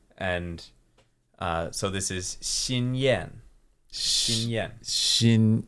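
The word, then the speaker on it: Xinyan: in names yeah and uh so this is shinen Shen Shin shinen cool so Shin is uh well it's used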